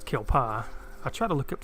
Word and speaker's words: kelpie: what's your thoughts on the kelpie or kill paw correct me if i'm in saying the name wrong which like I said I'm pretty sure it's kill paw I try to look